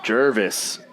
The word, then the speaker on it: Gervais: to the wisconsinites yeah Jesse Johnson Ryan Jervis Jervis I told you that's how you pronounce it yeah sure that's exactly what you